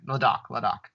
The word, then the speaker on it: Ladakh: Ladakh. Yeah, that's the accurate pronunciation.